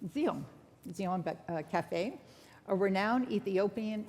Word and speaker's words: Zion: Cultural Foundation, and the owner of Harlem's beloved Zion Cafe. Is that how it's pronounced, PJ? Zeon. Zeon.